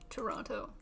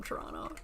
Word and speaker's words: Toronto: Say Toronto. Toronto. Toronto. Toronto. Toronto. Toronto. That's how people from Toronto say it.